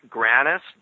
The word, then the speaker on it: Grannis: You have it right. It's Grannis, Grannis, like Sam.